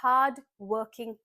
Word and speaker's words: hardworking: My strengths are my hardworking nature. It's a request. Generally as per Indian English accent we do not pronounce the Rs here.